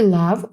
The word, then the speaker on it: love: The students Love Her в слові love останняє і не читається о передається короткою а Love She is good At